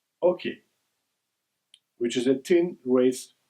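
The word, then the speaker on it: oche: Major tournaments, however, are played with a hoke, also spelled O C H E, and pronounced ok, which is a thin raised strip of wood approximately 40 cm in length and 4 cm in height.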